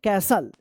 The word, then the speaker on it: castle: चलिए, द ओल्ड, क्या पढ़ेंगे इसको, CASTLE, क्या पढ़ेंगे, कैसल, क्या पढ़ेंगे, कैसल पढ़ेंगे, कैसल, कैस्टल मत पढ़िए, कैसल, ठीक है।